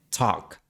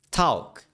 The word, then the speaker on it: talk: También es la razón por la que la L ya no se pronuncia en talk. Hace siglos esta palabra se pronunciaba tal como está escrita. Talking, talking. Pero esta L se convirtió en una W. Talk.